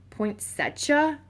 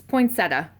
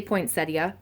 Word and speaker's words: poinsettia: have blush poinsettia um i've heard someone say was it kent say poinsettia that's not how it's pronounced it's come on come on squid come on eb go on go find something to do bud go one it's poinsetta um or you can say poinsettia if you want um but